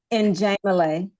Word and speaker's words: Njemile: It's Njemile. Oh, and Njemile. Okay, Yeah. so it's the accent is on the first syllable. On the second, On the second syllable in Njemile.